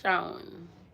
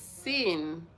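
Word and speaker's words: Sean: It's pronounced Shawn. Hi, Shawn. How you doing? But it's Sin. I don't know, but I think that is my African way of pronouncing things. But me, I'm seeing it as Sin. But anyways, I think it's Shawn.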